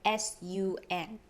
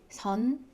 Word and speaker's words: sun: words as well so think about how you would pronounce this word s-u-n is it son you were pronoun probably pronounced as sun so it's not sun it's sun so it's going to be very similar to sun if s is in